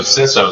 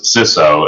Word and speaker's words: CISO: have the discussion so gene always pronounce it as cisso and every now and then we'll find people who'll pronounce it as ciso um but because gene